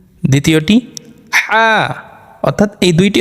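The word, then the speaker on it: ح: উচ্চারণ করলে চলবে না এই দুইটি হরফ আমাদের একটু চেপে একটু শক্ত করে উচ্চারণ করতে হবে আবার বলি আইন হা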